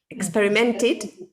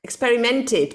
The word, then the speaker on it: experimented: cr see also experiment experimented okay okay experimented because it's like complete rent because it finishes it ends with the t we need to pronounce the experimented she also experimented with